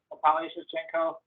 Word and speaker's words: Natalia Shevchenko: We had one of our underwriters, Natalia Shevchenko, that's how you say her name, by the way.